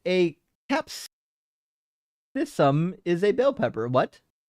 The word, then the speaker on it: capsicum: But apparently, I think it's supposed to be pronounced the way that it's written up here. I've got the wiki page pulled up with the pronunciation instructions, and it says Cape Secum.